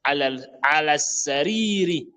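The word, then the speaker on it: السرير: Al-sariri. Vous allez vous remarquer, je dis al-sariri parce que le sin est une lettre solaire. Donc on ne prononce pas le lam. On dit al-sariri.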